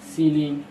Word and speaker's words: ceiling: अलग अलग उच्चारण ई आई के इन सभी उच्चारण के नीचे दिए गए। ई I equal to हर सी, सीलिंग, conceit, इसको सीलिंग पढ़ते हैं CEILING सीलिंग, conceit CONCEIT conceit.